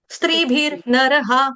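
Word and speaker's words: स्त्रीभिर्नरः: स्त्री स्त स्त्री स्त्र, स्त्रीभिर नरहा, स्त्रीभिर नरहा, र का उच्चारण आधा, उसके बाद नर वाले का र पूरा, स्त्रीभिर नरहा।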